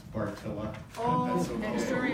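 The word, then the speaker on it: Bartylla: And now it is my privilege to welcome Monsignor James Barella from the Diocese of Madison to do our blessing. Monsignor. It's Bohemian, so it's pronounced Bartilla.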